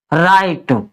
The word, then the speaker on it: right: तो जैसे RIGHT, इसको हम क्या पढ़ेंगे, आर से लिखेंगे र, और आई से लिखेंगे आ की मात्रा और ए, और GH को करेंगे साइलेंट, और टी से लिखेंगे ट, राइट। ऐसे ही लाइट, NIGHT नाइट,